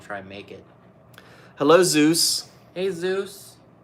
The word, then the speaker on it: Zeus: hey Zeus hey Zeus No it's it's Zeus I know I said hey Zeus you said hey Zeus same thing I have to start calling you a grammar snob and a pronunciation it sounded like Jesus like Jesus Rodriguez Rodriguez